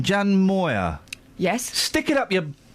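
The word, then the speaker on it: Jan Moir: Jan Moyer.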